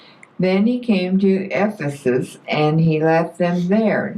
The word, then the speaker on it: Ephesus: 18 ver 18 all right how do you pronounce e p h e s u sesus Ephesus okay she's asking about 19 well I moved